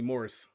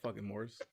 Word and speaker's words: Morse: nisha nisha that's like people keep calling me morris ain't no morse this is morris right